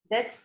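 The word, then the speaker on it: debt: card पर loan कर्जा डेट का मतलब होता है कज बी साइलेंट होता है क्रेडिट कार्ड प कर्जे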